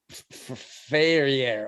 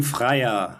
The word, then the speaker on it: Freyer: at the Deutsche Oper with distinguished director Achim Ferrier. Oh, I didn't say that right. Daniel, I know you're back there in the darkness. Can you please pronounce his name? Achim Freyer.